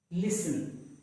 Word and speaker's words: listen: T is also silent when a word ends in S-T-E-N. For example, christen. It is not Christian, but it is pronounced as christen. The T is silent. It is not fasten, but it is pronounced as fasten. Listen. Christen, fasten, listen.